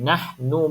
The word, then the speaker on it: نحن: double nun ni. Satu je Ha? bacanya. Satu je nun. Nahnu muslihun.